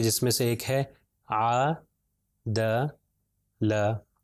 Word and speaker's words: عدل: ہے ع د ل، اگر الگ الگ کر کے پڑھیں گے تو ہوگا ع لمبا، اگر زیادہ لمبا کروں گا تو غلط ہے، تھوڑا سا لمبا کرنا ہے، ع د ل، عدل، عدل۔ پھر اگلی مثال ہے